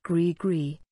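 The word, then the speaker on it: gris-gris: have already begun their work upon the world pronounced grigri griez grice is possibly the most recognizable physical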